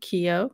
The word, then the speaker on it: Keogh: Keogh, that's how you say it.